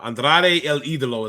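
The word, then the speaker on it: Andrade El Ídolo: think of it now Andrade El idolo is how you actually say it he was like Kevin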